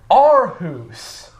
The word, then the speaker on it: Aarhus: We're in Arus. You said it correctly.